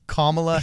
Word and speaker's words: Kamala: Kamala a camel camel it's not camel it's Kamala Harris but everybody says Kamala and it's I doubt